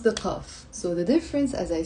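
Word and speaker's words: قاف: No, I always say in the Lebanese dialect, we don't pronounce the qaf.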